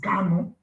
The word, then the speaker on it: Kano: leader is not carlo our leader is kano it's not carlo it's canon for some of you that always need this pronunciation it's kind of not carlo amazing okay i remember